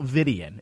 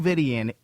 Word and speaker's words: Vidian: Count Vidian. Is that how you pronounce his name? Count Vidian.